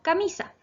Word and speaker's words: camisa: Y aquí estaba el ejemplo de la palabra camisa. La palabra camisa tiene 3 sílabas. Ca-mi-sa. Es grave porque su acento está en la penúltima sílaba, que corresponde a la sílaba mi, que está destacada.